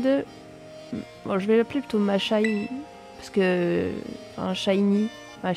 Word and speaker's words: Mashynn: êtes inscrite pour affronter machine enfin ma Shine je suppose parce que c'est un gars qui enfin je sais pas comment ça se dit on va être prononcer à la française la championne vous devrait